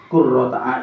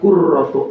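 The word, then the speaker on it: قُرَّةُ: marhaban bi dzikrillahi ta'ala qurrata ayunina bika ya Rasulullah. Ini bacanya Bu ya. Marhaban bi dzikrillahi ta'ala qurratu ayunina bika ya Rasulullah.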